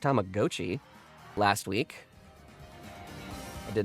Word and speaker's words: Tamagotchi: I found out it's pronounced Tamagotchi last week.